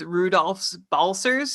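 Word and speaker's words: Rudolfs Balcers: Just to be clear, it's Rudolph's Balcers, so you got to make sure to pronounce both S's at the end of his first and last name.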